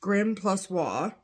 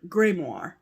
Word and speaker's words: grimoire: The word Grimmery is pronounced grim plus wa in American English. In American English, the second syllable is usually stressed. In British English, the word is often pronounced Grimmery or grimoire.